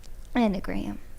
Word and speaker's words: enneagram: poland an enneagram yeah endogram that's how you say it e-n-n-e-a-g-r-a-m i've never heard of